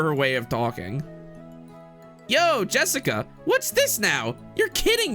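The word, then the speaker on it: 朱志香: Anyway, blank is pronounced Jessica.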